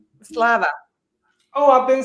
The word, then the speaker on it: Slava: Slava.